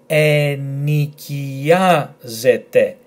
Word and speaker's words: ενοικιάζεται: And then we have Z, E, T, and E, because this combination is pronounced E. So slowly and all together, we have ενοικιάζεται, ενοικιάζεται, ενοικιάζεται, which means to let or to rent.